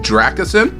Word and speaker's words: Dracasin: Hey, all you gotta know is pronounced like the first part is pronounced Dracasin, and the last name is pronounced the last name is pronounced.